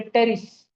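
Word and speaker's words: Pteris: फिर है टेरिस। P silent. P को करी क्या मैंने अंडरलाइन? नहीं। मैंने किसको करी? टेरिस।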